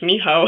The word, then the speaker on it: Michał: It's pronounced like the W in water. So yeah, my name is Michał.